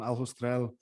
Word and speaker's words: Aljustrel: I love, as you travel around Portugal, it's full of these old historic mines around Losal, Aljustrel, which I keep pronouncing the J in a Spanish way, so you'll have to correct me every time.